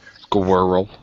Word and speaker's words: squirrel: Obviously they'll think of it as 3 syllables when it's 2 syllables, but usually because it's the R and L combination that fucks them up to so much that.